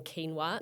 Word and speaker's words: quinoa: nightmare what happens when quinoa not pronounced quoa and rice have a